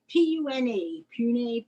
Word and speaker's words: Pune: Pune. Pune. Right. Pune.